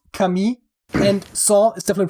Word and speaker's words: Camille: And otherwise, the first name is definitely pronounced Camille, and Saint is definitely pronounced Saint, but or is it Sant?